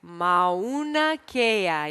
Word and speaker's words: Mauna Kea: no yeah una Cara Monica let's try it Mauna Kea yeah that's a nice pronunciation there Mauna Kea and the other one